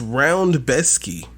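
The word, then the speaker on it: Rębecki: besky how that's pronounced it's spelled Rebecca but pronounced round besky it's how I it's polish it's how it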